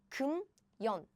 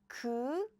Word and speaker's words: 금연: So what happens is the pronunciation is like, pronunciation is more close like 금연. It's not 금연. No, it's 금연. So this 미음 is moved to the circle. It replaced the circle.